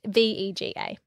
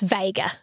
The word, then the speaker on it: Vega: sorry AA V no v e g a v not a just Vega Vaga machine like Lou Vega the guy who sings